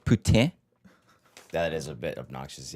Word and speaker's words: poutine: Same with it's like Wait, is this okay, I'm gonna have poutine. Well, no, it's poutine.